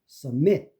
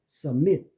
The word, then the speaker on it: submit: 그다음에 U가 슈어가 되는 것, submit. 이게 액센트가 없으니까 submit, succeed, supply, suspect.